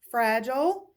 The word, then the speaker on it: fragile: G for fridge Oh fragile now sometimes people do pronounce the word fragile but really it's fragile so again at that point you've identified it is a soft G and this is again